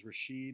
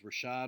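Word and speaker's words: Rachaad: single time four dabs he says Rasheed white even though it is Rashad white uh me for calling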